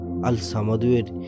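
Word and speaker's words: الصمد: আল্লাহর এই গুণবাচক নাম আল সামাদুয়ের জিকিরের আমল ও ফজিলত আপনাদের জানাবো। আল্লাহর এই নামের উচ্চারণ আল সামাদু, অর্থ তিনি কারো মুখাপেক্ষী নন, অভাবমুক্ত, স্বয়ং সম্পূর্ণ, সবাই তার মুখাপেক্ষী।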